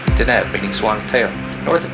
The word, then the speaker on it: Deneb: The brightest star in Cygnus is pronounced Deneb, meaning swan's tail.